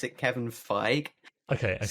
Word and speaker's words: Kevin Feige: some people pronounce it kevin feig okay and some people pronounce it kevin feige fair enough um so i just say kevin figgy it smell like beige so maybe all right um